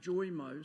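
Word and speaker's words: JOMO: the year for 2023 closely followed by Joo j m o sometimes pronounced joyo so we have Mo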